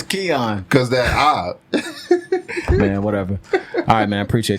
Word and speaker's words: Kian: with Kion man you said it right the first time it Keon how you mess it up the second time it's Keon cuz that I man